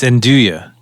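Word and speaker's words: Zendaya: it was one of those things yeah it's zenduya okay and do ya in do yeah it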